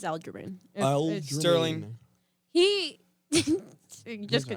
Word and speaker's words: Aljamain: I can't pronounce Aljamain. It is Aljamain.